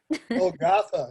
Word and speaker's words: Golgotha: His latest publication is the chapbook Hot Rod Golgotha, and please correct my pronunciation if that's bad. Golgotha. Say it. Golgotha, you had it right.